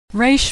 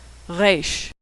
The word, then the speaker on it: Reish: Reish makes an R sound. Now most Americans pronounce it like the R in road, but Israelis pronounce it as more of a guttural sound. Reish.